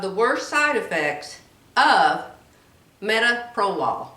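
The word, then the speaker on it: metoprolol: worst side effects of metaprolol i think that's how you say it metaprolol it's the pill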